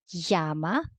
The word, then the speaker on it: Llama: It is like the Y in yes. You see, there is like yeah, yeah, yeah. As in, let's cite some examples. Llama.